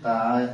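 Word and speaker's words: ت: বায়ের নিচে যেমন একটা নক্ত আছে, তার উপরে দুইটি নক্ত, তার উপরে দুইটি নক্ত, এটাকে আমরা বলি তা।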